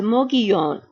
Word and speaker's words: Mogollon: are going to the Mogollon Mountains. I know it is spelled M-O-G-O-L-L-O-N, and it is pronounced Mogollon.